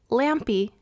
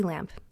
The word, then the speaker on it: Lampe: have recently found out that I have been mispronouncing her last name for years, and that her last name is actually Luci Lampe and not Luci Lampe.